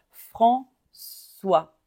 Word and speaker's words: François: quelque part François François le CCD comme dans ça va ça va parce que normalement C A C o C u se prononce K comme un K et on a mis la Sédille pour faire le son ça va François et s muet comme